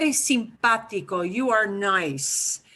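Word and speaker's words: simpático: and multiple syllables and you see an accent mark so you're going to hit the pot syllable harder than the others so listen real carefully with this long word simpatico sympatico you are nice sympathico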